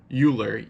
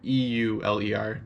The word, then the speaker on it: Euler: you pronounce it a lot of people people pronounce it Euler EUL er but it's actually Euler I would know if